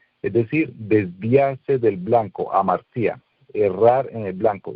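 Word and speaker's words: ἁμαρτία: Y en griego se dice amartía, con H, amartía, y con T al final. Y tiene el mismo significado, es decir, desviarse del blanco, amartía, errar en el blanco.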